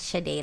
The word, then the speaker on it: Sade: Yes, Sade, like the singer. Sade, and it's spelled the same way.